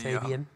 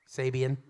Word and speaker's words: Sabian: there's someone watching the Sabian huh Sabian Fabian wasn't he oh Sab like like Nick Sabin sa a sa a b i a n which is a sub